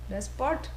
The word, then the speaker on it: despot: Despot rhymes with desperate.